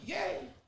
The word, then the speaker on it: Ye: It's Ye, pronounced Yay.